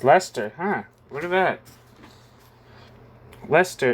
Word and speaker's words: Leicester: Huh, it's Leicester, huh?